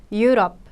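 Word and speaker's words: Европ: 커페 커페 게르만 게르만 여기서 좀 특이한게 있죠 여러분 분명히 예를 배웠는데 왜 유와에 발음이 들릴까요 유럽 커페 게르만 이렇게 발음이 되겠는데요 예지만 주로 유로 발음되는 경우가 많고요 특히 레어를 발음함 있어서는이에 발음이 굉장히 많이 사용이 됩니다 따라서 예지만 아 유가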